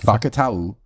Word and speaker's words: Fakatau: That is how it's pronounced. Fakatau. Okay. Because I asked him today. Am I getting this right? I said, hey, buddy, I'm hearing your name all kinds of ways. How is it actually pronounced?